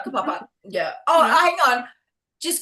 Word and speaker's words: Whakapapa: we're just like, oh, like Whakapapa. That is a real place, and that is not said right. Whakapapa.